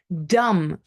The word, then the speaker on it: dumb: the table from when I had my sandwich dumb you know if you are dumb it's another